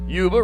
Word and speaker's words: Yuba: Yuba rhymes with tuba.